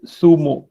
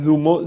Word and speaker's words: zumo: देखो Z का there are 2 types of pronunciation. First is sumo, जब स की आवाज आती है, और एक होता है zumo, स और ज के बीच की आवाज आती है, zumo,